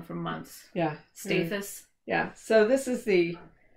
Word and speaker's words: Staithes: We've been saying it wrong for a long time. We've been saying it wrong for months. Yeah. Staithes.